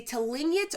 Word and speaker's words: Tlingit: The Tlingit, I mispronounced it the last time. The Tlingit or Tlingit are Indigenous peoples of the Pacific